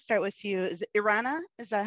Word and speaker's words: Erana: Is it Erana? Is that how you pronounce Erana, it? Erana, yeah.